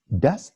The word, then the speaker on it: das: Or here, blue, das ist Herr Yulu. Das ist, this is Mr. Yulu, introducing directly. Sometimes the English speakers, when they see das, sounds like that. No, this is, okay?